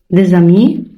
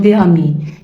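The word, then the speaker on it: des amis: بس ايه عندي ملاحظة، حرف الاس لو اتحط ما بين اتنين فويال ينطق از، يبقى اوتوماتيك لو كلمة عندي بدأ بحرف متحرك قدامها الأداة بتاعتها جنب انطق ز بين الاتنين. دي زامي، ما ينفعش اقول دي امي، يبقى هنا في ز وهنا في برضه از.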